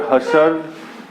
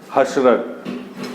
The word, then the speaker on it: Husserl: The pronunciation of his name is either Husserl or Husserl, right?